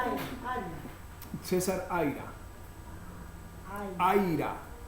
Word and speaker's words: Aira: Aira. En vez de aire, A.